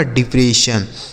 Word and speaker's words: depression: आगे लिखा है DEPRESSION, तो DE से पढ़ेंगे डी, PRE से प्रे पढ़ेंगे, और SSION को पढ़ा जाएगा सन, तो यह लिखा है आपका डिप्रेशन।